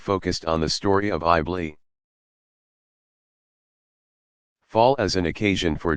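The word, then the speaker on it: Iblis: diabolical figure is called AI bleah pronounced i BL es from the Greek diabolus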